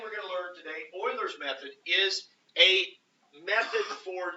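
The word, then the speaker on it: Euler: something called Oiler method Oiler is how you pronounce that it's not UL it's not uler I know it looks like uler it's Oiler I thinkman probably says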